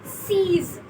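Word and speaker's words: six: We write it same, but we pronounce it as seize.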